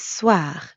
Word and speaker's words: soir: And the second part is soir. That means evening. Soir. soir, The end sound is kind of like saying ah at the dentist. Ah, soir.